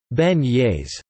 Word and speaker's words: beignets: New Orleans is known for specialties including beignets, locally pronounced like beignets.